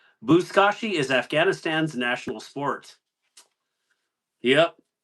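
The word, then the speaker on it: buzkashi: So, out of curiosity, did anybody um look look up buskashi?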